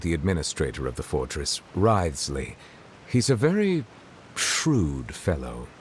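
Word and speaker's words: Wriothesley: personal dealings with the administrator of the Fortress ryley he's a very shrewd fellow rides Le so that's how it's pronounced yeah he's a character I wanted as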